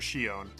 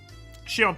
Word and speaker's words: Shion: Shon Shion pushed Kasai. That's not how you say it.